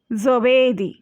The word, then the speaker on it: giovedì: এখানে দেখুন বৃহস্পতিবার থার্সডে, giovedì। এখানে জি এর উচ্চারণ বাংলায় জয়ের মতোও হয় এবং গয়ের মতোও হয়। জয়ের মতো জি এর যে উচ্চারণটা সেটা হলো soft pronunciation. ইতালিয়ানে in Italian G then O pronunciation হবে গো, কিন্তু সেটাকে সফট করার জন্যে জি আর ও এর মাঝখানে এসেছে আই, সেই জন্যে এটা জো।